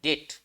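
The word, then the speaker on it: debt: enable तू पे हिज डेट एंड इसमें ना बी साइलेंट होता है इसको डेट पढ़ते हैं इसको पढ़ते हैं डेट डेट का मतलब खर्च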